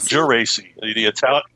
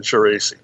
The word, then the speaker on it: Geraci: Is it Drew Geraci? It's Geraci. The Italian pronunciation, Geraci.